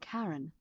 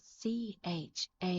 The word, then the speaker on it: Charon: It's just as you described it, only your pronunciation is a little off. The name you heard wasn't Karen. It was C-H-A-R-O-N.